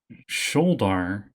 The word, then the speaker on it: Sholdar: But they're supposed to be pronounced Sholdar and Yevgeny.